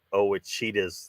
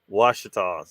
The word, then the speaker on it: Ouachitas: far from the ouachitas somebody somebody pronounced it oh with cheetahs the other night oh my god washitas it's the washitas um you know that's